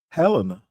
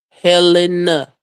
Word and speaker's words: Helena: H, how you pronounce it? Say what? Helena. Helena. H E L E N A.